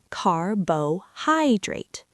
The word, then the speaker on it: carbohydrate: The stress falls on the third syllable, carbohydrate.